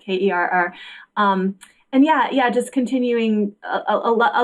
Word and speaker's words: Kerr: It's spelled Kerr. It sounds like care, but Kerr.